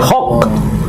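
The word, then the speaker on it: חג: Lehok Shem disebut ibadah haji namanya, hok. Jadi kalau kita menyebutnya hajj, artinya haji. Besok kan saudara-saudara kita melaksanakan ibadah haji ya. Nah, hajj. Kalau bahasa Ibraninya hok, hok. Jadi karena ini cara pengucapan yang berbeda, sama seperti kita hajar,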